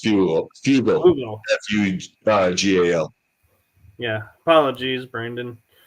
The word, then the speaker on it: Fugal: of them, working for Frugal. And so I'm like, yeah, Frugal. you guys are. He's not frugal at all. But, did I mispronounce his name? Yeah, you said frugal with the R. It's fugal.